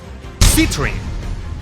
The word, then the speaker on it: Citrine: so sit here citrine her name kinda rhymes with Sith here now that I think